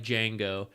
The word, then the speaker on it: Django: Thus, just like Django, the D is silent.